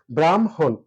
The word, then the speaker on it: ব্রহ্ম: কোন শব্দের আগে অর্থাৎ শুরুতে যদি র ফলা থাকে তাহলে অবশ্যই সেটা ও হয়ে যাবে ব্রম ব্রহ্ম ব্রহ্ম ব্রহ্ম ব্রহ্ম